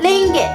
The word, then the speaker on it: Ringgit: れますが、マレー語での発音はリンゲに近いですね。